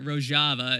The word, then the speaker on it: Rojava: 21st century biji beexadana roava uh or rojava is how you say the 14 words from the left.